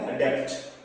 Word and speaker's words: adopt: ADAPT means होता है अडेप्ट and ADOPT means अडॉप्ट।